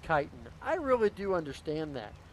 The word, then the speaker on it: chitin: look at all that yes i know it's pronounced chitin i really do understand that um i totally understand that but you gotta understand i totally like calling it chitten that's how i said it the first time